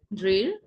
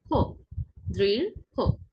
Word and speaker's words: দৃঢ়: ঠিক আছে, দৃঢ়, দৃঢ়, দৃঢ়, অর্থাৎ একটু হো এর মতো, একটু ও এর মতো করে উচ্চারিত হবে।